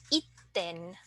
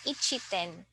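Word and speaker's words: 一点: 1 point something something, then you have to pronounce it itten rather than ichiten.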